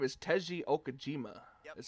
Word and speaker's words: Okajima: I can tell you got the last name right because there was a pitcher for the Boston Red Sox had the same last name. That's how they pronounced it.